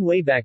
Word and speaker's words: WABAC: provide universal access to all knowledge the name wayback machine was chosen as a reference to the wabac machine pronounced way back a time-traveling device used by